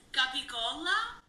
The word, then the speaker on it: capicola: It's not where's the gabagool? No. It's capicola.